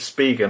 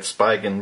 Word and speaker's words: Spigen: the Spigen I've been told that's how you pronounce it speak and I always said Spigen but anyway let's say Spigen for this video um it's the iPhone 5